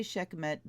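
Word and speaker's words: Sekhmet: that's cool Ron abuse Sedna abandonment she's native Scheck met empowerment and I say Scheck met because my dear dear friend who was Egyptian and a priest pronounced it that way empowerment she'll in a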